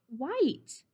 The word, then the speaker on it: white: t bossy e look bossy e is making i say his name so it says white that's how we write